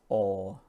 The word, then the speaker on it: all: It's all, the sound is all, launches, something like all, like this word here. It's not al, it's all.